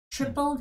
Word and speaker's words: triple: Tripled his money. 3배로 튀겼대요. Tripled his money in 1 week. 일주일 안에. 그래서 그런 단어 tripled. 그리고 TR 발음은요. When you put it together, it sounds more like CH.